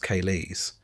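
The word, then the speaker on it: ceilidhs: These gatherings often known as kalids pronounced kaes are not about performance but about participation.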